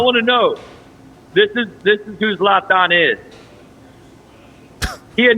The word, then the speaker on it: Zlatan: Today, we have the, how do you pronounce it? Zlatan. Zlatan. No, you got to say Zlatan. Like you're eating a sausage or Zlatan.